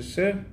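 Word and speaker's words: שיר: Shir, à la base, dans la Mishnah, c'est pas exactement la même prononciation, c'est Sher, sous-entendu, le collier qui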